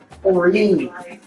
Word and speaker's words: Oren: Oren. It's like Oreen, but without the N. So I say Oren.